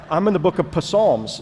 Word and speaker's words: Psalms: I'm in the book of Psalms, and I don't see Jesus in here. And he said, the P is silent, it's Psalms, and he said, you have to go to the Gospels.